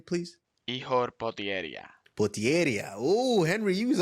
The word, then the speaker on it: Potieria: Potier.